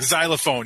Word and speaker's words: xylophone: But the X, you don't say X when you say X. Like xylophone, you don't say Xophone.